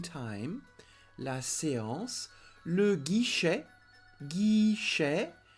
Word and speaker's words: guichet: Le guichet, guichet. So don't say guichette. The T is not pronounced.